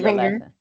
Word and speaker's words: Renger: Our next presenter is an Angela and it's Rener. I pronounced it. I was practicing this morning. Yes, it's Ringer Ringer on your on your last name.